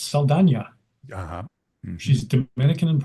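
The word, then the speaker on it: Saldaña: I didn't know that her last name was correctly pronounced Saldana.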